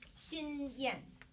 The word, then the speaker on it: Xinyan: My first name is Xin Yan. So it sounds like Shinyan, but it is spelled as Xinyan.